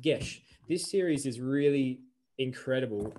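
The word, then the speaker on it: Geis: how to say it g-e-i-s i think it's gesh it's pronounced gesh this series is really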